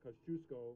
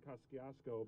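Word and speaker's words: Kościuszko: pronounce and joe you i knew how to pronounce uh kosciuszko rather than koskiasko because i went to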